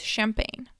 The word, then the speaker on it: champagne: from French so the the G is silent so it's champagne okay so another important